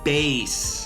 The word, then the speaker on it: Bass: Look, I get it. It looks like bass. And if this was a fishing game, it would be pronounced bass. Heck, if this was a Mega Man X game, it might even be pronounced bass, as all the Mavericks resemble different animals. But girl, have you never heard of music?